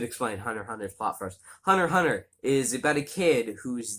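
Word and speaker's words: Hunter × Hunter: i probably should say it is pronounced hunter hunter even though there is an x in the middle um that's because within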